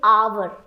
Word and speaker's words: hour: But no, the right pronunciation is hour.